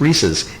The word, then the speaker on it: Reese's: name reesei it's Reese possessive Reese's anyway when you start toying with the ratio when you start changing the shape it changes the way the Reese's taste to me really